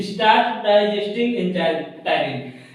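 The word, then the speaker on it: ptyalin: एक मिनट, ये टाइलिन थोड़ा स्पेलिंग देख लीजिएगा। पी से स्टार्ट होता है, पी से, जैसे निमोनिया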